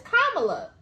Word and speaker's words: Kamala: That's how you pronounce it. They said Kamala. It's Kamala.